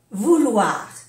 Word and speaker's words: vouloir: Aquí en francés sí que se pronuncia U. Porque la U, para que se suene U, tiene que tener una O delante. Entonces aquí es vouloir. O-I-wa. War. Vouloir. Vouloir.